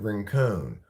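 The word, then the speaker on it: Rincon: like a Chinese Abraham Lincoln but it's not pronounced rink it's pronounced ranone I wonder if Susie is now Susie ranone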